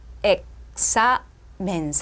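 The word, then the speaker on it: examen: 엑사맨. 음음절이에요. 그죠? 자, 끝나면 어디에 강세가 있다 그랬어요? 끝에서 두 번째 엑사맨에 있거든요.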